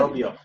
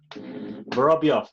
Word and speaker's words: Vorobyov: Vorobyov. Vorobyov.